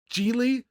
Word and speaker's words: Gigli: He's got like Gigli, or how do you pronounce the name of the movie? Gigli.